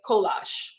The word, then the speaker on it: kolache: So we are going to make kolache. That is how you pronounce it.